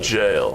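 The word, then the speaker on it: Gaol: black G Knight jail I believe it's pronounced jail that's right uh and we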